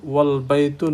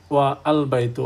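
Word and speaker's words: وَالْبَيْتُ: যেমন আল বাইতু pronounced আল বাইতু, অ্যান্ড ওয়াল বাইতু is pronounced S ওয়াল বাইতু, নট ওয়া আল বাইতু। অর্থাৎ ওয়া সরাসরি গিয়ে ধরবে লামকে, এই জন্য ওয়াল বাইতু উচ্চারিত হবে, ওয়া আল বাইতু হবে না।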